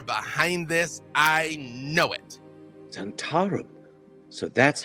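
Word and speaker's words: Zhentarim: Zentarum. So that's how you pronounce it.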